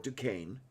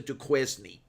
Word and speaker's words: Duquesne: is a burrow um that is pronounced as the french wood it is the borough of duquesne um and a friend